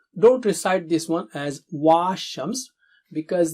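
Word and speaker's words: والشمس: Please note, don't recite this one as wa-Shams because the alif after waw is not alif, it's a temporary hamza. So we just say wa-Shams.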